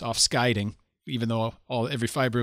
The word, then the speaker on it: Afscheiding: I know German, so my German pronunciation might influence my Dutch and then make me make errors. Like I know it's offscheiding even though all every fiber of my being wants to say afscheiding.